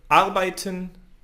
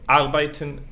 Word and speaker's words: arbeiten: So normally in German, the accent on the word is on the first syllable. Okay, let's see some examples. For example, arbeiten, Deutschland, Name. Okay, you see I lift my voice in the first syllable.